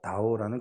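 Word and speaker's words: 倒: 이 도자, 다오라는 글자가 뒤집어지다, 뭐 그런 뜻입니다. 그런데 이 다오라는 말이요, 조금 짧게 따오라고 발음하면요, 도착할 도자 있지 않습니까? 그 글자로 바뀌게 됩니다.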